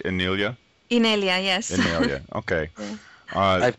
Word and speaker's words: Inelia: Am I pronouncing that right, Inelia? Inelia, yes.